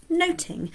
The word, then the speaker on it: nothing: Now, in Shakespeare's time, pronunciation of the word nothing is thought to have been more like noting.